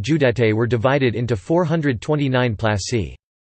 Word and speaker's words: plăși: Plasă, Romanian pronunciation, plas, plural plasi, place, was a territorial division unit of Romania, ranking below county Judei and above commune.